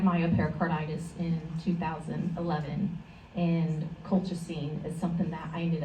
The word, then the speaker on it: colchicine: Coltrazine? Colchicine. How do you spell it?